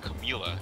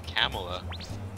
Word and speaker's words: Camilla: It's not Camilla, it's Camella.